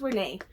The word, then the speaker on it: Renee: Is it Elise Renee? No, it's Renee. It's Renee Elise.